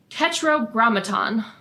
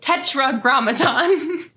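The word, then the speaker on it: Tetragrammaton: as oh this word tetr Graton mhm I said it wrong tetragramaton so Tetra Gramatan refers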